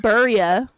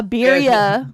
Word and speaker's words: birria: said burria. Is that how you pronounce What the it? fuck is a burria? A birria.